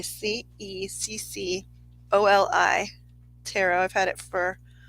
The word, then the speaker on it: Ceccoli: It's pronounced Chicoly. Ceccoli tarot.